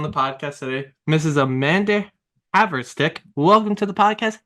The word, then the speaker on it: Haverstick: Amanda Haverstick. Welcome to the podcast. How are we doing today? I'm great. You pronounced my last name correctly, which no one does.